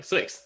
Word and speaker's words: Swyx: it's always been a fairly intuitive fairly intuitive pronunciation it's like swix like sw x like you said how else